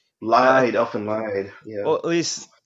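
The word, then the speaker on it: Elfen Lied: Elfin lied because it's spelled Lied, so lied, yeah.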